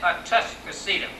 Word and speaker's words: Atascocita: But the old timer said, Tuscocita. They did not say Atas. Now, I would not tell you the correct pronunciation. I can only tell you how my pappy and his pappy before him said it. They said Atascocita.